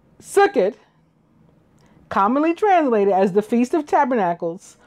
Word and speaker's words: Sukkot: Sukkot, commonly translated as the Feast of Tabernacles or the Feast of Ingathering. Traditional Ashkenazi pronunciation, Sukkos or Sukkos, literally means the Feast